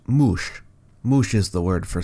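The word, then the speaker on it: muš: Sumerian word for snake is not Sir, it's Mush. Now, we used to believe it was pronounced Sir back in the old days, but we have since discovered that that was wrong, and it's pronounced Mush.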